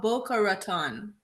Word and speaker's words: Boca Raton: We will actually ask her for the pronunciation at this time. Please, Miss Blake, help me out. So it's City of Boca Raton.